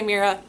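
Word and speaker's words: Meira: M E I R A. Got Kira with an M. Pronounce it however you want. I say Mera.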